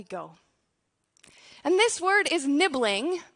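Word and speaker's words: nibling: and this word is nibbling rhymes with sibling it's not in all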